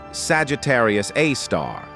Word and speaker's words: Sagittarius A*: At the very heart of our own galaxy, the Milky Way, lies Sagittarius A, pronounced Sagittarius A star.